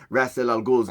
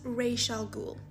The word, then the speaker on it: Ra's al Ghul: actual correct pronunciation of Rasal Ghoul's name in Arabic. It's not Ray Shal. It's a title. It's not his name. We don't know his real name. It's Ghoul.